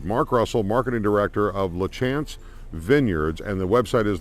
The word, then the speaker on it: LaChance: but I I see I see the word in my head LaChance is how it's pronounced and uh thank you